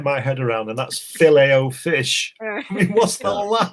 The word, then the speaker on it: Filet-O-Fish: head around, and that's filet-o-fish. I mean, what's all that about? Filet-o-fish? Yeah. Filet-o-fish. There we go. The T is there, and we don't pronounce it.